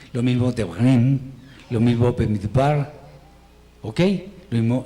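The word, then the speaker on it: במדבר: Lo mismo Devarim, lo mismo Bemidbar, ¿ok? Lo mismo Shemot. No es una vocal muda, sino una vocal muy corta, pero se pronuncia.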